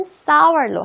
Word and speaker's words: sour: 그게 이런 샤워가 아니라 바로 요 문장, 이 단어입니다. sour. 발음은 sour로 합니다.